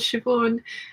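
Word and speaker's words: Siobhan: Nave Nave ne ne one of my best friends is called shioon and I remember reading a book before I'd ever met shioon in real life and the entire book the person in my head was sanan yes I've done that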